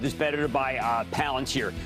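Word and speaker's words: Palantir: Uh it it's I'll tell you it is better to buy uh Palanteer, also known as Palenter by people who don't know how to pronounce it.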